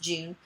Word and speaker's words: Jun: My name is June, Jun, pronounced June, 29-year-old male.